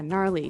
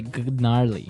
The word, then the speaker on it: gnarly: Yeah, gnarly. So an interesting word, it's spelled Gnarley. Okay, so, but you don't say gnarly.